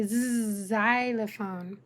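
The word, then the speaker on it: xylophone: And at the beginning of the word, it will say zylophone.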